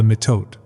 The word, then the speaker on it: mitote: Your whole mind is a fog which the Toltecs call the mitote, pronounced m i h t u e t y.